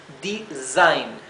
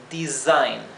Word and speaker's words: design: fíjense que la s Recuerden que en inglés cuando la s se encuentra eh cuando no está duplicada y se encuentra entre dos vocales la s se pronuncia sí como un zumbido no se pronuncia como la s suave se pronuncia bien Así que esto es design design design no es Designar design es diseñar diseñar